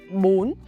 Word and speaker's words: bún: Apply the high raising tone on bún and the sharp, short, high tone on chả. Pronunciation mechanics. Step-by-step guide. The word bún chả, 2 syllable.